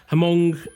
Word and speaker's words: Hmong: this on purpose but hamong ethnic group I think it's Hong I have checked online I can't find a uh a pronunciation but I think it is Hong ethnic group and it affected